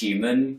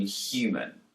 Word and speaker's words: human: For me, the words human, huge, and humour begin with a Hu sound. But in New York accents, the H is dropped, and we're left with U. Listen to Theresa May pronounce the H in human.